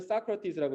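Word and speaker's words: Socrates: 영어로는 사크라티스라고 읽어요.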